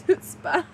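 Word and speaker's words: chutzpah: a strange looking word it's even stranger when you try saying it it's pronoun oh sorry his pronunciation is hoot SP it's h Spar HPA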